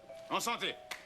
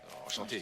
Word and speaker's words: enchanté: En santé. Enchanté. Je te jure, Dreamer. Enchanté, on dit enchanté. C'est ce que j'ai dit, en santé. Lorsque je dis enchanté, ça sonne comme en santé.